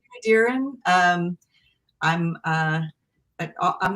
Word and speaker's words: Dearen: to hate them so um i hope i pronounced your last name right but do you want to introduce yourself that's right darren um i'm uh i'm not a full-time author